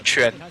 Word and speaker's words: Chuan: Yeah, just remember like how you pronounce chin, and you have this like ch sound, right? It's like it's just that. So Chuan, yeah.